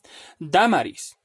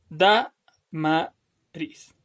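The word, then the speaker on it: Dámaris: Damaris. Damaris. ¿Cuál es la sílaba tónica? Es da. Por lo tanto, es una palabra esdrújula y tiene que tildarse.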